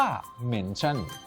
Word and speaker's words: เมนชั่น: การ นี้ นะ ครับ เรา เรียก กัน ว่า เมนชั่น ออก เสียง ชัด ว่า เหม็น ชั่น เรียก ง่าย ๆ ว่า